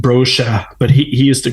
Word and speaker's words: Brosha: My last name is pronounced Brosha, but he used to